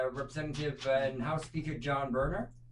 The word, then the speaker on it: Boehner: Well, look at, I'm going to say it probably wrong, but Representative and House Speaker John Boehner. Boehner. Boehner. It's spelled Boehner.